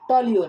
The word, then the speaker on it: toluene: तो मतलब स्पेलिंग क्या है? TOLUENE, इसको क्या बोलते हैं? टॉल्यून।